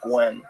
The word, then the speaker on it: Nguyen: I don't think they say Nui. I think they say Gwen, right? There's been a few fighters in the UFC, Vietnamese fighters, that have that same spelling, and I think they say it as.